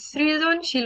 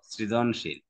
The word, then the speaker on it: সৃজনশীল: রসিকায় উভয়ের উচ্চারণে রসিকায় তাই আমরা সৃজনশীল উচ্চারণে এরকম করে লিখবো সৃজনশীল দন্তস র ফলা রসিকার যদি কেউ এই র